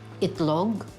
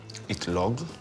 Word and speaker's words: itlog: eat some more how do you say eggs itlog itlog i t l o g okay what Ed